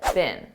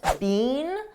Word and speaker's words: been: bickering all day now notice I said bin bin a very unstressed bin this is how we pronounce the past participle of the verb be bin in American English I don't speak British English but I believe in British English they pronounce it more stressed being but in American English we don't do that we just say been been they've been they've been